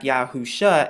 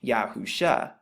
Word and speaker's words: Yahusha: Now, the Shin in the Hebrew, which is what you find right here, it's pronounced like sh or sh, and the Ayin is actually silent in the Hebrew, but it makes the uh sound, which is right there.